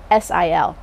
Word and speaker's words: Brasil: Now, the last cultivar that I mentioned earlier is the Brasil, and that's Brasil. It's spelled with an S, not with a Z. And we know that for a fact because it's patented.